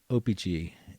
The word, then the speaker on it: O-Pee-Chee: And the more and more collectors that I run into or hear or listen to kind of accentuate the second syllable there. So they go O-Pee-Chee, and I do O-Pee-Chee.